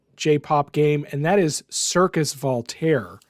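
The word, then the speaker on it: Cirqus: to be i mean it's circus but it's spelled wrong is that like the canadian spelling of circus or something it's it's like french-ish it's spelled yes c-i-r-q-u-s circus voltaire it has the this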